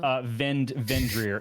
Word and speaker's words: Vindhyryr: Like a rear vendor. Vendrier. It's spelled VINDHYRYR.